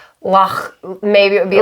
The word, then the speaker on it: loch: I mean, I think if you did a proper pronunciation, it would be like loch.